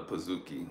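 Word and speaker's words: pizookie: a lie there's one thing it's called a pazooki do you know what a pazooki is Ed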